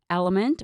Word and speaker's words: LMNT: me just tell you element which is spelled lmnt is now making for